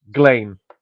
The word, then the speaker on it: Ghislaine: Oh yeah, But and that, by the anyway, way, people, that's how you're supposed to pronounce her name, Ghislaine.